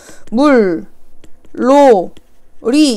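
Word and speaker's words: 물놀이: 자, 얘 발음 어떻게 하냐면 물, 로, 리 이렇게 발음을 한다지.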